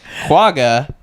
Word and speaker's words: quagga: The name quagga, with the G's pronounced with a guttural ch, is an onomatopoeia.